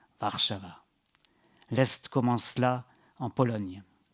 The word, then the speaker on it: Warszawa: On prononce local, Warszawa.